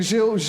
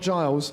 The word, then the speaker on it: Gilles: So my name is actually Gilles, not Giles. Yeah. But until Gilles Grimandi came to Arsenal, people actually knew how to say my name properly. So it's Gilles Peterson, not Giles Peterson, like Grimandi.